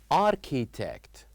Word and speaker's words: architect: And in this word architect here we don't uh pronounce edge. Here we have one silent letter which is letter edge. So here we write architect but we don't pronounce the letter H.